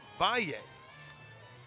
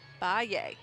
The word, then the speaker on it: Valle: Michaela, and they say the exact pronunciation for the last name is Valle. Valle. Spelled V-A-L-L-E, Valle.